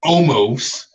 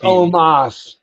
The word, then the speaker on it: Omos: No, It's not almost. it's He, Omos.